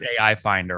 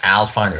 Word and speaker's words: Alfinder: not all finder it's ai finder right well it's al finder actually so it's that is